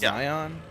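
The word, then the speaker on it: Xion: I and uh memories it's pronounced Zion I don't care who am I gonna eat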